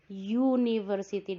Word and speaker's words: university: Yang it is a university, tulisannya dari u tetapi bacanya karena pakai university dari y makanya pakai e.